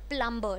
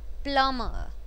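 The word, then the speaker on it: plumber: भी यह आंवला मय नॉट प्लंबर जैसे प्लम होता है न वैसे ही प्लम प्लमर अच्छा ठीक है यह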